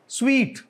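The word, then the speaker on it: suite: सही प्रोनाउंस नहीं करता अनफॉर्चूनेटली हालांकि वही सेम स्पेलिंग है सेम फार्मूला है अच्छा जी what is this स्वीट hotel स्वीट जैसे होता है यू नो मतलब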